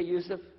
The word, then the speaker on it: Yusuf: we'll work on it shalom my name is youssef do you say yusuf you say yusuf you're very good i wish you teach my wife she keeps mispronouncing it she calls me useless now